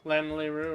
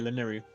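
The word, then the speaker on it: Lanayru: Lanleru or whatever. Laneri province. Laneru. Yeah, Laneri. That's how you pronounce it, actually.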